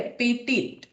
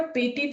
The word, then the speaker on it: petit: लेकिन फ्रेंच में ये पेटी ऐसा नहीं है, फ्रेंच में इसका कुछ इस तरह से स्पेलिंग है, PETIT, ठीक है, पेटिट।